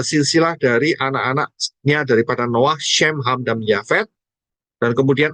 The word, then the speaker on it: Shem: Ya, jadi Shem itu, kita tahu Shem itu adalah nama. Ya, Shem, bukan Sem. Shem. Ini saya juga salah untuk memperbaikinya. Harus saya perbaiki. Shem. Ya, bacanya bukan Sem, tapi Shem.